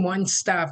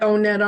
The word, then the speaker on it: O*NET: Hi, this is with Transition Onetop Shop and I've been promising a how-to about